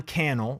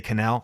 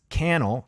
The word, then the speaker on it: Cannell: By the way, Sean Cannell rhymes with YouTube channel. People say Cannell. It's Sean Cannell, just, podcast, like it's the story of my life. Sean Cannell. It's Cannell, rhymes with channel.